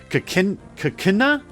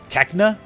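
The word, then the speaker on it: Cacnea: to run into a Kakina? No. It's basically a cactus, but it's pronounced like Kakina. Cacna. There we go. I think that's how it should be. Cacna.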